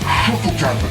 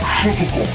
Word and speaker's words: Shotokan: de karaté d'Okinawa Shotokan oui ça se prononce chotokan et pas chotokan alors s'il vous plaît les Français arrêtez de dire chotokan en japonais toutes les lettres se prononcent on dit Chan